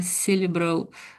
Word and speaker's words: cerebral: So that's a C. So it sounds more like an S, you might say. Cerebral. Cerebral. So cerebral hemorrhage. So that's a particular part of the brain, isn't it? Cerebral.